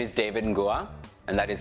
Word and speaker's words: Nguah: Hi, my name is David Nguah, and that is spelled N-G-U-A-H.